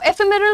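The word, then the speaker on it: ephemeral: नाउ एफेमेरल का मतलब, पहले प्रोनाउंसिएशन पर ध्यान दिया आपने, एफेमेरल कैसे बोला मैंने, एफेमेरल।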